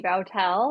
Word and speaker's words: Boutelle: more yeah sure uh my name is bowel um a lot of people mispronounce my last name so I did the